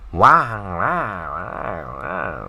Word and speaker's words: 哇哇: 哇哇 is like wow, wow.